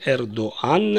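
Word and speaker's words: ארדואן: Неси Туркия президент Турции и если по-русски фамилию президента Турции принято произносить как эрдоган то на иврите Эр доан и пишется с буквой А слово чувствуем зде жере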